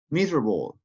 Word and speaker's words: miserable: Miserable. Miserable. Good again. Letter E. Miserable.